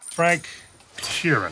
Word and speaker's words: Sheeran: Frank Sheeran. Am I saying that right? Yeah, you said it right.